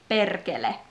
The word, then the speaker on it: perkele: It's just perkele. And remember strong R. Perkele. Perkele.